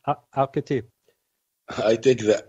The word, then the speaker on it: Al-Khatib: Al-Khatib. It's not difficult. It's English. There's like an A sound at the start of your last name, then. Like Al-Khatib.